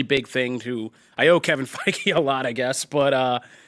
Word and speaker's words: Feige: I always say his name wrong. Is it Feige? Feige. I think it's Feige, right? It's Feige, yeah.